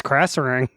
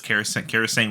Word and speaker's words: Krasarang: Yep, that's Krasarang. Yeah, wow, I always said it's Karasang Wilds too.